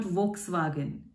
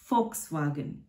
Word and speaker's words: Volkswagen: it's the symbol is vw so it's not volkswagen it's pronounced as volkswagen whey x epsilon set so z is not